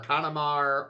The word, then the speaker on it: Canamar: It's either Canamar or Kanamar or... I don't know. It's Canamar. Calamari.